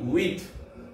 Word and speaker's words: huit: H U IT with HUIT with 9 NEUF NAF NEUF NAF and 10 DIX this 10 DIX this.